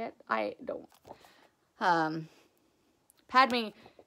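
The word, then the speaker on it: Padmé: it i don't um padme is from like my pad pad me yeah uh padme i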